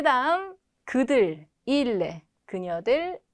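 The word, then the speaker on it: ils: 자, 그 다음 그들, il, 그녀들, elle. 에서 자, 발음 들으셨으면 딱 아시겠지만 3인칭 단수와 복수가 발음이 똑같습니다. 왜냐하면 끝에 자음 s는 발음되지 않기 때문에.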